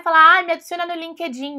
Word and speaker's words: LinkedIn: me adiciona no Linkedin não é assim que você vai falar você vai falar LinkedIn LinkedIn LinkedIn Então você fala bem rápido linked linked in LinkedIn LinkedIn tudo bem Não LinkedIn como a gente fala aí do jeito aportuguesado você gosta daquele chocolatinho